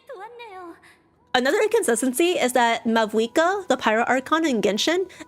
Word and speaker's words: Mavuika: Pyro Archon in Genshin, is actually supposed to be Mahuika. If I remember correctly, she's named after an Aztec or Mayan goddess, so there's an H instead of a V. But they spell and pronounce it as Mavuika, which I don't get.